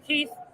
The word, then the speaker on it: KEATH: So and Keith is spelled KEATH. Yes. Just let's not make that mistake.